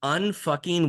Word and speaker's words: Unf*cking: Okay, so it's unfucking work, but there is no U. So the U is silent.